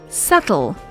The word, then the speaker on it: subtle: the words are pronounced subtle subtle in words like these the bee is silent and should not be sounded out a similar word with